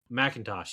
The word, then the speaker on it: McIntosh: Mackin McIntosh, or Is Is it McIntosh, or how do you say his name? It's a R.J. um McIntosh, yeah.